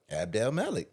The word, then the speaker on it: Abdelmalek: It's really pronounced. If you just read it. Just read it. It is. can Now that pronounce it. it Abdelmalek. is. Abdelmalek.